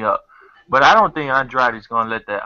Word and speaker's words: Andrade: But I don't think Andrade is going to let that. I'm saying it right, and then I'm confusing myself. Andre, that's how it's pronounced.